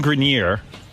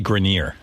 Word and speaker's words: Grenier: From Entourage, Adrian Grenier and Kevin Conley. It's actually Grenier.